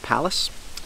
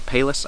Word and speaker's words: Pallas: this guy this is the spartan palace or payless i think kyle from d2m knives and gear who i borrowed this from calls it the payless but i want to say it's called palace it's spelt p-a-l-l-a-s anyway it is a button